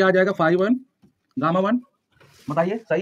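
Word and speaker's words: phi: इसको कहते हैं फाई, है ना, फाई 1 फाई 2। ये हमारा जो है इसको हम क्या पढ़ते हैं, फाई 1 फाई, इसको पढ़ते हैं फाई, है ना, फाई।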